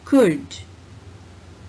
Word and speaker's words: could: Should, would, could. La sound is silent in all these three words.